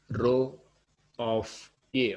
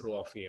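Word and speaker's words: ρ: Here we read this as row of A only. We read this as row of A only. We pronounce this as row of A only.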